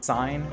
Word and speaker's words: sign: The first word in each of these pairs has a seemingly useless silent letter, but when you say the derived word, that silent letter is pronounced.